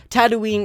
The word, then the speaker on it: Tatooine: there are two suns the beginning sounds just like tattoo not to do Tatooine is generally accepted but that doesn't make it correct and it's definitely not tattoo whine this last planet is one